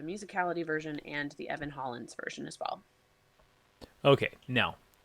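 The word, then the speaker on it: Hollens: And then the third one was by Evan Holland. Yeah, I think that's how you pronounce her name. Evan Hollins.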